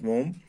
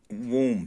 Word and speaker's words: womb: के कोख में था, वोम मीन्स कोख, इट्स एक्चुअली इसको वोम बोलते हैं, इट्स नॉट वोम, ये बी साइलेंट है यहाँ पे, वोम है.